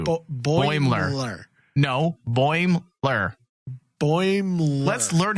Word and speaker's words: Boimler: No, Boimler. There's not 3 syllables. 2. Boimler.